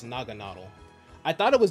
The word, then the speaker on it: Naganadel: You would think it's pronounced like Naganadel or something like that. It's Naganadel.